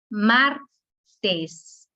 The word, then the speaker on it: martes: Martes. La sílaba tónica es mar, dos sílabas.